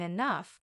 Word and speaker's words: enough: day I'll even understand why G can sound like F in enough maybe one day I'll